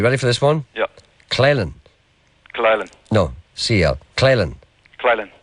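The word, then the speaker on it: Coalisland: Claylan.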